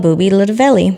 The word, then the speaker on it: Boobie Lootaveli: Please welcome Boobie Lootaveli. Hey. I pronounced that correctly, right?